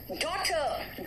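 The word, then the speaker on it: daughter: हम देखिए H silent है एच साइलेंट है कहांहां साइलेंट है जरा देखो डॉटर डॉटर बोला मैंने एच साइलेंट है डॉटर जी एच यहां पे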